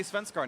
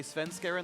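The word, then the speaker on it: Svenskeren: there's high repronunciation and i'm not going to say svenskarn anymore i will say sven skarin like everyone else because i'm no longer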